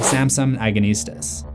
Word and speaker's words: Samson Agonistes: is an excerpt from John Milton's 1671 poem Samson Agonistes that's how you say it it to hints